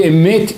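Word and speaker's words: אמת: Pessoal, quando se trata de emet e sheker, não dá para ter compromise. Porque olhem que espetacular. Como se fala verdade em hebraico? Emet. Aleph, Mem e Taf.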